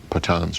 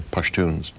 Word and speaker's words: Pashtun: Most of them, I think 80% of them, are Pathans or Pashtuns. Pashtun and Pathan really is the same, different pronunciations of the same word.